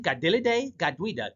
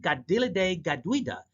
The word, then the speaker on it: Kateri Tekakwitha: And St. Gadel Gadwida did just that. I'm pronouncing her name in Mohawk, at least trying to get it right. The patron saint of native Indians in Canada, St. Gadil Gaduida can also be an